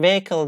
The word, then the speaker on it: vehicle: we shouldn't do that broadly speaking we don't pronounce the H invert imported from French like our owner air exhibition and vehicle they came from French language and age in these words are not pronounced our honor air exhibition